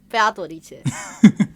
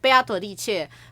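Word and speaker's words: 贝阿朵丽切: playing the game in Chinese, Beatrice is called 贝阿朵丽切. That's how you would say it. 贝阿朵丽切. Cool. So, Beato, like Beatrice in Chinese is called 贝阿朵丽切.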